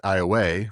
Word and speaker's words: Iowa: So, Iowa, Louisiana, they pronounce it IA, which is probably close to the Iowa way in Native Americans.